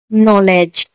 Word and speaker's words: knowledge: Knock, KNOCK, knock, knock में भी एन से आगे के है तो नॉलेज, KNOWLEDGE, नॉलेज, नॉलेज ने भी एन से आगे के है तो के साइलेंट होगा।